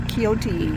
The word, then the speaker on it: Kioti: I didn't know it was pronounced like that because it's kind of spelled like a Japanese word. I thought it was a coyote or something, but it's coyote.